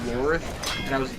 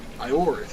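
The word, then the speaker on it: Ioreth: I first played this, I thought it was Lorith, but then I heard him pronounce it, I'm like, Iorith. I'm like, what the fuck? I'm like, it's an L. But then I realized, oh, it's a weird font. It's not an I.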